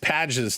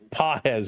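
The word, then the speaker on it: Pages: So, here is Fiser against Pades now. PZ, excuse me. Pahz is the correct pronunciation setup.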